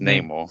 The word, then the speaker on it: Namor: It's pronounced Namor.